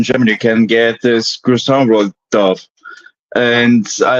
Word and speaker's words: croissant: I get told here in America I'm saying it wrong. I say, no, it's called croissant. You're doing what? Croissant rolls. Yeah, You know I used to. croissant. The way the French say it.